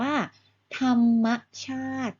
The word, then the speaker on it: ธรรมชาติ: ลูก อา มี มอ ม้า ด้วย เป็น ตัว สะกด ก็ จะ ออก เสียง ว่า ธรรมชาติ นั่น เอง ค่า ธรรมชาติ หมาย ถึง สิ่ง ที่